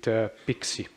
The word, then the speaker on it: PKCE: And if it is, then you use the authorization code with PIXI. That's how this is pronounced.